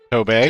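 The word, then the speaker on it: Tobey: Toby. Cuz I gota No, it's pronounced Toby.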